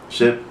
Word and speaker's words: Shipp: Shipp.